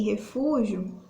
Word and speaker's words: refúgio: porém observa em que refúgio se escreve com g mas o som da hora que a gente faz falando vai ser perceptível com som de q dj refúgio ju tá então a gente pronuncia a foto e não são do g tá então os dois permanecem